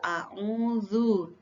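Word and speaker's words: أعوذ: al-falaq Hulk auzubirobinas al-falaq disini auh Ain ya angin ini bukan Alif berhenti bacanya auu auu dan ini gagal agar a'udzu birabbil Falaq ini adalah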